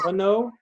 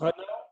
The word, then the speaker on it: Renault: I don't pronounce the N with run. I pronounce it for now.